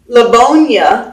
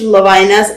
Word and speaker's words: Lovina: And my name is spelled L-O. A lot of Amish Lovinas are L-A. So I always stress when I'm talking to an Amish person, I always stress that my name is Lovina, and it is in